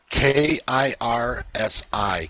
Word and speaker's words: Kirsi: The first one for our member, Kirsi. She wants to know if you have any messages for her. How do you spell that? You say it correctly. K-I-R-S-I.